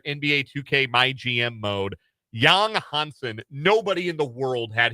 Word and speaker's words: Yang Hansen: My favorite pick of the night was Yang Hansen. It's actually pronounced Yang Hansen, but it looks like Yang Hansen.